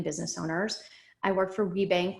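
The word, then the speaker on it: WBENC: owners i work for rebank which stands for women's business enterprise national council it is not a bank but that's just how the acronym is pronounced and there are regional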